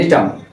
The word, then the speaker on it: Gnetum: এটাও নগ্নবীজি উদ্ভিদের মধ্যে আবার উন্নত কিছু উদ্ভিদ আছে, নাম হচ্ছে নিটাম। কি আছে? নিটাম, GNETUM।